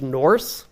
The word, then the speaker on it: Nurse: Probably it was really more pronounced Norse, like a longer U.